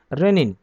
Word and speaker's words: renin: रेनिन आपको मिलेगा RENIN, रेनिन। दोनों का प्रोनाउंसिएशन जो है वो सेम है, लेकिन इसकी स्पेलिंग अलग है और उसकी स्पेलिंग अलग है।